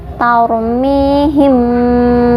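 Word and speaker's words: تَرْمِيهِمْ: Tarmihim, dibaca tebal karena ada ro sukun, huruf sebelumnya berharokat fathah. Tadi sudah saya jelaskan, ro sukun itu dibaca tebal ketika berhubungan dengan fathah ataupun domah, dibacanya tebal.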